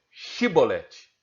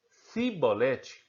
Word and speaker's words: chibolete: não diziam peço seis então diga chibolete se ele dissessem se bolete com a letra s sem conseguir pronunciar corretamente a palavra prendi-lo e matavam no